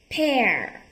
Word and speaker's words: pear: Ở đây mình không có đọc là peer nha. Pear.